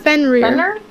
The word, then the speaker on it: Fenrir: How do you pronounce it? Fenrir.